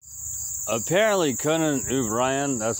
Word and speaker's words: O'Brien: Apparently, Conan O'Brien, that's how you pronounce it, O'Brien, anyway.